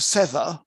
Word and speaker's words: sever: If I pronounce sever like severe or severe like sever, my English becomes completely incomprehensible.